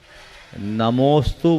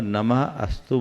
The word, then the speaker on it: नमोस्तु: धारा करते समय देखिए कोशिश करनी चाहिए संधि करके ही बोले अगर संधि हुई है संधि विच्छेद करेंगे तो उससे स्वर अलग हो जाता है उच्चारण बदल जाता है नमोस्तु बोलने में और नमः